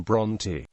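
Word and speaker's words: Brontë: to discourage a similar mispronunciation, the mark is also used in the surname Bronte.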